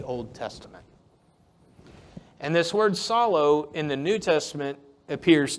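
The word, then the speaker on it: ψάλλω: And this is from the Greek word psallo. I gave the pronunciation there for all you non-Greek folks.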